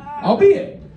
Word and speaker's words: albeit: Albeit.